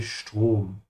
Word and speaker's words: Strom: Der Strom is electricity. And remember that whenever the S comes before a T in German, it's pronounced like sch. So make sure to say Strom.